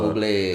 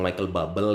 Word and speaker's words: Bublé: Tolong ini buat teman-teman yang masih ngomong Michael Bubble ya. Oh, bacanya Ada. Bublé. Ya, Bublé. Bublé.